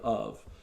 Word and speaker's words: of: f's in the word of and it's because it's a small word our eyes pass over it and phonetically it sounds more like a v so there are a